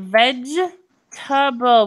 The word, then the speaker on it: vegetable: vegetable it's the same vegetable we don't pronounce this e ok I want to